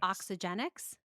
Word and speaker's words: Oxygenics: that's again a no-brainer it's not oxygen oxygenics so what did I put in an extra syllable in there yeah um